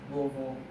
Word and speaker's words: Louisville: From there I moved back to Louisville, Kentucky and if you were a local you would say it with two syllables. But most people like myself say that Louisville.